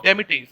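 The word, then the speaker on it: demitasse: t a s what is a meaning of demetrius or what is the hindi translation of demetrius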